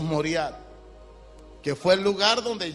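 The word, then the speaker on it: Moriah: el nombre yahwe moriat la palabra correcta la pronuncia más correcta sería morat Pero le decimos moriat que fue el lugar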